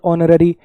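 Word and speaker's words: honorary: और अच्छा समझ में आएगा, नीचे वाले देखो, एच साइलेंट है, आर आयर उत्तराधिकारी, आयरस कोई लड़की उत्तराधिकारी हो, ऑनेस्ट, ऑनर, ऑनररी, एसएमएस समझ थोड़ी है ये, एसएमएस अ की आवाज है पहले, आरटीआई, एमएनसी, एलएलबी।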